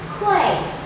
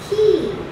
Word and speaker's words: quay: This word, it looks like quay, because when you have A and Y, you tend to think it's like A in day or say or play. But this word is actually pronounced as key.